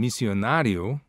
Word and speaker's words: missionário: The accent over the A in missionário indicates where the primary stress is to be. Thus, missionário.